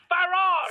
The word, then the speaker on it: Farage: Farage. Farage. Pronounce it the British way, please.